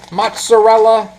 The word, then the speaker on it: mozzarella: to add some mozarella m mozzarella whatever way the Italians in your area pronounce it Italian Americans we seem